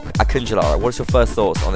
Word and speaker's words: Akıncıları: Just immediately, I'm going to give the translation of the 3 Akıncıları, which is how you pronounce it.